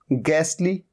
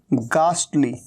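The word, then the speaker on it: ghastly: और दूसरा होता है गास्टली, गास्टली। तो एक तरीका है गैसली और एक है गास्टली। और यहां पर गास्टली, ट जो है आधा ट है।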